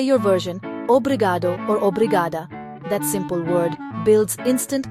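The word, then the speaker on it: obrigada: They sound like obriadu and obriada.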